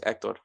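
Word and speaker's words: Héctor: But yes, the proper pronunciation of my name is Hector. The accent mark is on the E. So yes, the H, I guess in some sense the H is silent.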